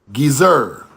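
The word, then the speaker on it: עזר: In modern Hebrew, this letter is silent, but the ancient pronunciation was a soft G, as in the word ring. The word would have been pronounced gizer.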